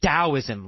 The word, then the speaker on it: Taoism: logic about it so it's spelled with the T but pronounced as a D I don't know why